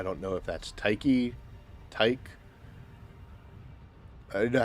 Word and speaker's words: Tyche: supposed to be saying Tice. Almost with an S sound.